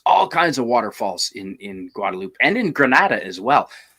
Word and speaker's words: Guadeloupe: In Guadeloupe, actually, in Spanish you'd pronounce the E Guadeloupe, but since it's French, Since it's French, it's Guadeloupe.